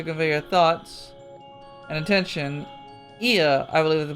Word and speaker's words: Ea: Ia, I believe, is the pronunciation we use when referring to our people.